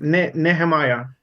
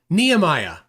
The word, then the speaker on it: Nehemiah: Nehemiah. Nehemiah. Okay. It's a Nehemiah. That's how tall he is. He's knee high.